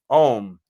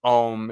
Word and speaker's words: Om: is issuing, the sound Om is issuing directly out of the column. Om is a mystical syllable consisting of 3 sounds, A-U-M.